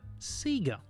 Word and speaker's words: Sega: But most of all, we pronounce Sega Seagga.